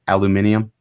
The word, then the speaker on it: aluminium: Am I pronouncing this right? Aluminium. Is it? Yep, you did. Yep, you did good.